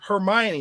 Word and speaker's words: Hermione: i wrote the first movie and someone said hermione that was the first time i heard her name pronounced apparently correctly and i was like who